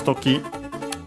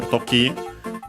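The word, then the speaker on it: 時: Noun which is toki, accented on the last syllable, means it's a strictly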